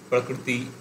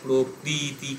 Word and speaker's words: প্রকৃতি: এই জন্য শুদ্ধ উচ্চারণের ক্ষেত্রে দেবে কৃত এই ধরনের, প্রকৃতি এই ধরনের উচ্চারণ হয়। মানে আমরা যেমন বাংলায় প্রকৃতি ক্রি উচ্চারণ করছি, ওই রকম ক্রি উচ্চারণ হয় না, মানে খুব স্পিডে এবং কৃতি এই ধরনের একটা উচ্চারণ হয়।